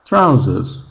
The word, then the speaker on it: trousers: Trouses trousers.